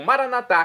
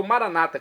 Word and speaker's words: Maranatá: E agora eu clamo Maranatá, como dizemos nós católicos, ou maranata, como dizem nossos irmãos, separados das comunidades evangélicas ou protestantes. Não importa pronúncia, o significado é o mesmo.